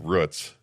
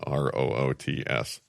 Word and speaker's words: Roots: Yeah, it's it's pronounced Rutz. But it's spelled roots. Yeah. Yeah, r o o t s.